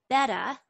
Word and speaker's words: betta: channel it's called simply betta which is which is of the proper way of pronouncing betta fish simply so simply beta and